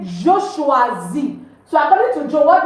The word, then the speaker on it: choisis: You don't say je choisis. No. It's je choisis. The S is not pronounced, meaning I choose or I am choosing.